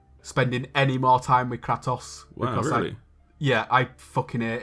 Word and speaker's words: Kratos: It's Kratos, by the way, before anyone feels the need to correct you, I'm going to do it first. I'm going to keep calling him Kratos because it rhymes with twatos.